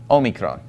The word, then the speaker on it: Omicron: which is Omega well Mega means big or large so basically what you have in Greek is the little o Omicron and the Big O Omega okay and they both make the same sound in modern Greek which is an o sound okay so this is